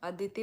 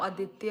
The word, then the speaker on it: आदित्य: अभी चुप साइलेंट दीदी, मेरा गलत नाम ले रही है। मेरा नाम आदित्य है।